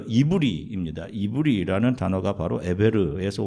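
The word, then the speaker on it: עברי: 자, 앞에 보시면 우리말로 히브리인이라고 발음하는 이브리입니다.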